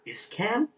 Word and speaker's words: Iscan: We have an uncommon trainer supporter, Iscan. That's how you pronounce the name.